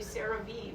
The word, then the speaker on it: CeraVe: the pronunciation is actually CeraVe because it stands for ceramide vehicles they were one of